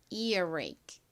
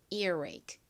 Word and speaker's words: earache: 천천히 따로따로 발음하면 earache인데 이 R의 뒤에 이렇게 몸이 왔으니까 빠르게 발음하면 이 부분이 연결이 됩니다. 그래서 earache처럼 들려요. R의 뒤에 몸이 왔으니까 입을 좀 오므렸다 펴면서 발음을 합니다. 그래서 lay보다는 ray에 가깝게 소리가 나요.